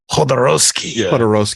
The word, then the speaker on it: Jodorowsky: Jodorowsky. Yeah, the J is like an H.